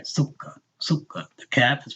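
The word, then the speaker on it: سكر: Sukkar. Sukkar. The cap is pronounced twice, right?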